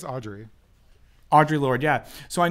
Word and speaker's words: Audre: I think it's Audre.